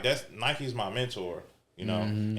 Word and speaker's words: Nike: even like, look at Nike. Nike, you have to say the E at the end. It's Nike. Yeah. You know, but you have to say Nike.